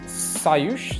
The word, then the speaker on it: Sayush: Next player is Sayush, is that how you pronounce it? Yeah, absolutely correct.